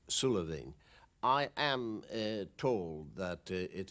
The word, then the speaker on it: Suilven: try and stop us it will be pronounced in garlic sullivan i am told that